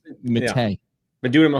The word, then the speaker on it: Matta: So it's Matta.